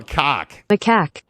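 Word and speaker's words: macaque: yeah and I'm like uh turns out it's pronounced ma maak ma how oh that's right they wanted us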